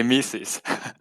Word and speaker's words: Mises: it right I've said I've said mycies all the time but I don't know if I you know if I said it right so if that is how you guys pronounce it oh we say mises amazing all right cool